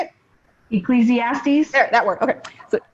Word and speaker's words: Ecclesiastes: Ecclesiastes.